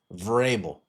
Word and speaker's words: Vrabel: Mike Verbal. No, it's pronounced Verbel. Verbable.